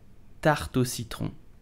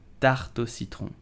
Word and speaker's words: tarte au citron: So how do you pronounce it? You will say tarte au citron, tarte au citron, tarte au citron, tarte au citron.